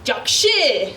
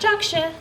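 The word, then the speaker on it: жакшы: And then you might answer, Jakshi. Jakshi. Good. And that's not Jaksha, right? Kyrgyz is spoken with your chest.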